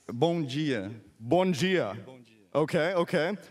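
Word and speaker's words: bom dia: easy what's a what's a good morning it's Bonia Bonia Bon okay okay how about uh how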